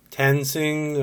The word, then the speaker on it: Tensing: about this police officer ray tensing I guess that's how we pronounce it te and si ng he had a body cam